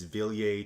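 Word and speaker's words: Wilier: It looks like it's spelled Willier, but it's Villiers Triestina, called the Izuard.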